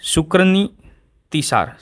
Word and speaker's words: शुक्रनीतिसार: ठीक है, क्या है, शुक्रनीतिसार, शुक्रनीतिसार। ठीक है, अब देखो प्रोनाउंसिएशन ऐसा हो सकता है, तो इसका नाम ये सुनो, शुक्रनीतिसार।